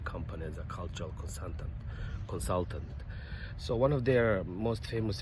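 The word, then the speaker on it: 소: So one of their most famous vehicles was Sonata, or in Korean they call it Socha, or a cow car, because cow is pronounced as so.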